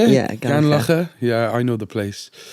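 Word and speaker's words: Gurnos Estate: Yeah, Gurnosestate.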